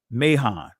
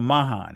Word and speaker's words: Mahan: in 1901 by Admiral Alfred Thayer Mahon or Mahan however you want to pronounce it all right so what